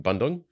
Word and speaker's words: Bandung: I mean I'm I'm going to am I pronouncing Bandung yeah thank you I'm learning yeah yeah it's